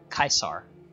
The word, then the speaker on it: Caesar: legion yeah kaisers legion that's actually how you pronounce caesar it's Kai sir because Latin is where